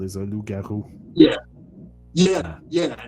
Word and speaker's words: loup-garou: It's written loup-garou because L-O-U-P is wolf. So in French, but it's the same pronunciation, but it's just not written the same way.